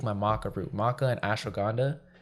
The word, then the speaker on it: ashwagandha: w a d h a n d a ashwagandha waganda what and what is it it's a